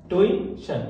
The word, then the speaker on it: tuition: पढ़ जाते हैं ट्यूशन, इसमें आई होता है, याद रखिएगा कई लोग इसको आई नहीं लगाते हैं, तो इसमें याद रखिएगा आई, इसका प्रोनाउंसिएशन होता है ट्यूशन, इसमें ई को आपको खींचना है।